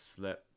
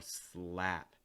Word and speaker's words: slap: davie's trademark words here but again it's not going to be an e so it's not slip it's more slap ah the way to make that a sound in a north american pronunciation what you're going to do is you're going to lower the back your tongue lower the front of your tongue raise that middle of your tongue so again when you